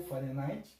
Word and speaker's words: Fahrenheit: A escala graus Fahrenheit ou Fahrenheit, aí você, a forma de pronúncia, né, é a forma de pronúncia alemã, né, e a Kelvin.